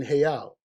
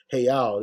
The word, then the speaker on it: real: clever uh Hey out the r is pronounced like an H so uh they call them rias or hey Al they really call them hey owls you know what I'm